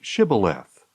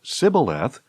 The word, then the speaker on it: Shibboleth: If he answered no, they told him, Please say Shibboleth. If he said Sibboleth, because he could not pronounce it correctly, they seized him and killed him at the fords of the Jordan.